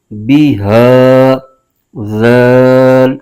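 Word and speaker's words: بِهٰذَا: بغیر کھینچے پڑھیں گے۔ با کے نیچے زیر ہے، بغیر کھینچے پڑھیں گے، اور ہا کے نیچے کھڑا زیر، اس کو ایک الف کھینچ کے پڑھیں گے۔ اس کے ہجے یوں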